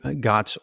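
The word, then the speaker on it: GOTS: Pete help us understand God's organic cotton why is that important am I pronouncing that right yeah yes it stands for the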